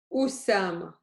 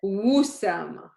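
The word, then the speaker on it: أسامة: Look what I said. Usama. First, I started with and then because if it would start without the hamza, only with this, it would be wa, right? Wusama. But I want Usama at the beginning. Yeah, Usama, Wusama. See the difference?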